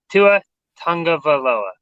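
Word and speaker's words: Tua Tagovailoa: tua himself pronounced it it's not pronounced anything like it's spelled it's actually to a tongue of a lova tongue of Aloha excuse me it's actually to a tongue of Aloha see that and why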